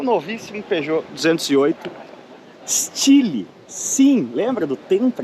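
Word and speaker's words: Style: o novíssimo Peugeot 208 Chile sim lembra do tempo este lhe escreve se saio em inglês mais pronuncia-se estilo hein hum solar e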